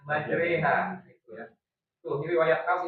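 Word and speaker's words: مجراها: Jadi bukan majroha tulisannya majroh ro tapi bacanya majreha.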